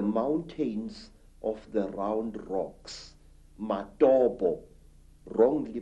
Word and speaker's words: Matobo: And one of these parts of Africa, say, is a remarkable place called the Mountains of the Round Rocks, Matobo, wrongly pronounced Matopo in Zimbabwe.